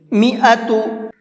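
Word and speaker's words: مائة: تا پیش تو، میعۃ۔ یہ جو الف ہے یہ الف نہیں پڑھا جائے گا۔ حبہ، جب میں نے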